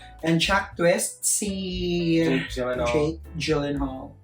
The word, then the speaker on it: Gyllenhaal: And Jack Twist, si Jake Gyllenhaal. Alam mo bang pag-pronounce talaga nun ay Gyllenhaal?